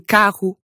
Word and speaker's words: carro: In the middle of words, when that R is doubled. As in carro and burro.